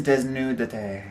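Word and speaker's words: Desnúdate: Desnudate. Like, obviously it sounds white when I say it, but let's hear it. Okay. Okay, so it is Desnudate.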